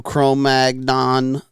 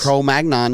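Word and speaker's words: Cro-Magnon: by the way uh this is the new chrom mag non mandible Mastadon oo non mandible using no oh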